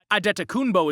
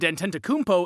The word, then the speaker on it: Antetokounmpo: nigerian born in greece their family name can be pronounced one of two ways adettakumbo is the nigerian way and antentakumpo is the greek way the antenta kunpo